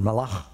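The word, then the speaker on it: מלאך: angelos in the hebrew you've got malach or malach if you say it with the jewish pronunciation uh you've got the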